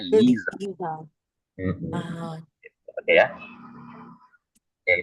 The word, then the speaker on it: Lisa: Makanya nama kalau misalkan ada nama orang Lisa gitu kan biasanya di Jerman bacanya Lisa.